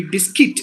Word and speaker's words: biscuit: alternative excuse me alternative not biscuit or biscuit it should be biscuit because the U is mute not broccoli to be